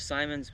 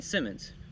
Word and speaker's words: Simmons: the best binoculars that Simons uh I mean Simmons not Simons Simmons makes I I said